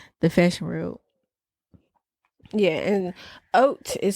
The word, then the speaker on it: haute: fashion world yeah and oat is spelled h a u t e a lot of people pronounce it hot Couture or H Couture but it's O when I typed in